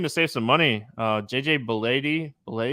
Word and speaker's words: Bleday: And then the other one that, if you're looking to save some money, JJ Bleday. I like that. JJ Bleday, it rhymes.